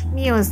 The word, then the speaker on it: Muse: lagu Unintended dari Muse itu bacanya Muse atau miuse itu mius miuse Oke ini dipesan dari